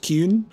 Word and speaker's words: Qun: for the qunari compound it's pronounced kyun please Sarah Hawk convince